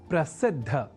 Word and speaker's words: प्रसिद्ध: समझकर या न लिखकर हम प्रसिद्ध अर्थात द और बाद में ध इस अक्षर विन्यास से युक्त शब्द प्रसिद्ध का ही लेखन और तदनुसार शुद्ध उच्चारण करेंगे।